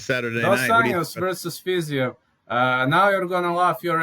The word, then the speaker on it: Fiziev: Anjos versus Fiziev.